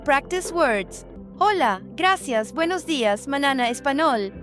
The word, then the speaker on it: hola: Hola, right. Hola, wrong. Hombre, right. Hombre. H is silent, always. No exceptions.